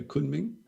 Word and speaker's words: Kunming: Because the people of, how do you pronounce it? Kunming? Kunming? Kunming. Kunming. Yeah, Kunming.